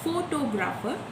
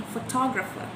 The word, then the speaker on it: photographer: word when pronouncing it for example pronouncing photographer instead of pronouncing photographer and pronouncing archief instead of archive when we had to